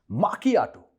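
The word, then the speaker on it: macchiato: माकियाटो, Italian में सी और एच को का प्रोनाउंस करते हैं।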